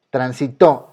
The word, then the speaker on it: transitó: Transitó. Ah, ok, es una palabra aguda. Me voy a la regla, termina en vocal. Dice que si termina en vocal se va a acentuar. Entonces se acentúa.